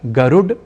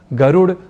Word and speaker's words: गरुड: शुद्ध प्रयोग करना चाहिए कुल मिलाकर गरुड़ उत्पीड़न पीड़ा नीड ईड इन शब्दों के उच्चारण के समय ड इस अक्षर का उच्चारण व लेखन करते हुए हमें हिंदी और अन्य प्रादेशिक भाषाओं से प्रभावित होकर इन शब्दों में ड की जगह ड का प्रयोग नहीं है करना अर्थात गरुड़ उत्पीड़न पीड़ा नीड़ ड़ ऐसा नहीं है बोलना और लिखना